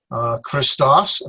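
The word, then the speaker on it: Χριστός: Christos, phone is voice or sound. Christos, again, when we have 2 vowels, so there are only 2 syllables.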